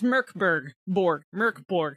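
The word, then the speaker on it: Mörk Borg: It's Merkborg, because the M-O-R with the umlaut is pronounced like the mer in murder.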